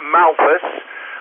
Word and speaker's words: Malpas: The village is Malpas, and it is Mike Alpha Lima Papa Alpha Sierra. That's Malpas in Cheshire.